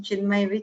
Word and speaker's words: Chinmaya: Ching may peace proceed thank you so much ma'am I know my name and surname is pretty difficult to pronounce and remember so I normally correlate my name chinmaya Chennai so that it becomes easier thank you so much